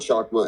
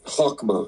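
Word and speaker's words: Chokmah: then chakma Co sorry it's not shakma it's um hwma because the C isn't pronounced so hwma is the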